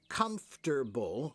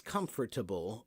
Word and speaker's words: comfortable: So comfortable has two pronunciations in my opinion. Okay, one is comfortable with three syllables and one is comfortable with four. And you will hear both doesn't matter.